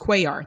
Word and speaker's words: Cuellar: So someone told me it's pronounced Cuellar.